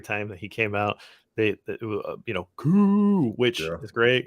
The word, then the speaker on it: Koo: When I was at the Falcons game, every time that he came out, Koo, which is great. It rhymes with boo and all that.